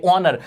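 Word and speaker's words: honour: H silent था, आवाज ओ की आई, ऑनर, जो कि एक वोवल साउंड था, ठीक है।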